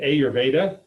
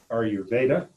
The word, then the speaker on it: Ayurveda: if you catch an Indian commentator on pronunciation, I think the emphasis should be on Veda, Ayurveda, as far as its emphasis, as opposed to Ayurveda, which would be how an American would attempt.